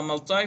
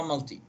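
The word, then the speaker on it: multi: ملتاي ونفس الشيء تلفظ، في ناس بلفظوها ملتاي، في ناس بلفظوها ملتي، معناها عديد ماني.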